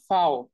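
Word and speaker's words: V: ইংলিশে সেটাকে তারা বলে ফাও ওকে যেটাকে হচ্ছে আমরা ইংলিশে ভি বলি সেটাকে তারা বলে ফাও এই যে দেখেন ফাও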